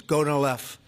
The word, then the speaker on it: Gonal-F: most popular drug of all, the IVF drug Gonal-F. So it's Gonal-F. Is that a proper pronunciation? Very Close well enough, done. right? Very well done. Gonal-F.